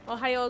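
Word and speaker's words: おはよう: It's just pronounced like Ohio the state.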